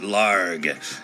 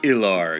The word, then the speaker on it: Ilharg: like to clarify that I pronounce it larget not LR again you know come